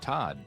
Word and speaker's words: Todd: hi I'm your host Todd and yes that rhymes with bod so feel free to